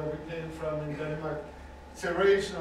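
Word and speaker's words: Terezín: Terrasen or Terrasen is the Czech pronunciation of the name. In German, it's Theresienstadt. Of course, as soon as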